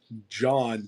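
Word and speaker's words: Jhone: what happened oh by the way um it's pronounced John j h o n e cash his website's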